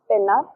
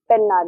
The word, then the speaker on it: Pennar: The correct answer for that is Gandikota Canyon is on Pennar River. Okay, so that is correct. Pennar and Penna is the same one. Okay, remember that pronunciations do differ sometimes.